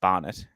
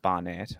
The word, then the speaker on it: Barnett: angular name but if someone was saying Barn it instead of Barnett I'd be like let's